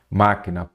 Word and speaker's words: máquina: proparoxítona Então vamos lá máquina proparoxítona porque a sílaba tônica é a antepenúltima sílaba tônica não seria a última não ela é a antepenúltima eu quero saber se